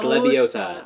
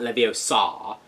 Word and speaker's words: Leviosa: as Hermione points out its Leviosa not levy Oh saw and as the flue